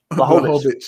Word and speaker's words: Blachowicz: And then when you're looking at Blachowicz, how do you say it? Blachowicz? Blachowicz. All right, Blachowicz.